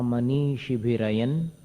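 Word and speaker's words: मनीषिभिरयं: आत्मा मनीषी भिरयन, अनुस्वार का उच्चारण न जैसा होगा।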